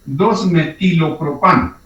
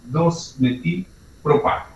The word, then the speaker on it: 2-metilpropano: Entonces sería 2-metilpropano. Para que se pueda leer de corrido 2-metilpropano, ese es el nombre. Entonces es incorrecto decir 2-metilopropano.